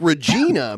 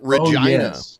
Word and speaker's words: Regina: when you read it it looks like Regina but Canadians pronounce it Regina yeah I think I